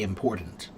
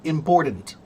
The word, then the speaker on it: important: probably say the word important. Duh duh duh, not ta. I still say they're wrong. I still say that the proper pronunciation is still important.